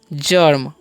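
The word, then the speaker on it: germ: है तो इस हम पढ़ेंगे जर्म ओके क्य जी है तो उसका चारण जो है ज हो रहा है और जी क्या पढ़ेंगे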